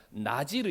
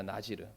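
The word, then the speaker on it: נזיר: 하고 있고 있습니다 그런데 이 바디 단어가 원래 히브리 씩 발음으로 우리가 읽게 되면 나지 로 입니다 나 지르 그런데 이 나지 라는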